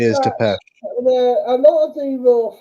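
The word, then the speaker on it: Țepeș: Yeah, Or Vlad Tepes. yeah. I think Right? that's how you say it, is But Tepesh.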